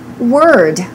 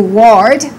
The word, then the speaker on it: word: How about word? Don't say that's a new word.